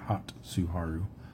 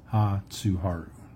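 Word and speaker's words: 初春: the hotaru yeah hatsuharu it's not hotaru hatsuharu okay no syllables that end with a consonant in Japanese is what I've been told so that TS is actually at the beginning of the second syllable all right we still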